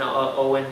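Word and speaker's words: Eoin: It was made by Owen Colfer. Actually, just look it up. If you type in Owen, it's not pronounced O-W-E-N, it's a different name.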